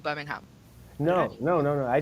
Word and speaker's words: Birmingham: pronounced out loud Birmingham you say the H Birmingham yep ham okay but